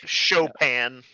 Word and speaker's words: Chopin: it never it's like it's spelled like chopping so I never know how to say it but that's fair Chopin yeah Frederick Chopin uh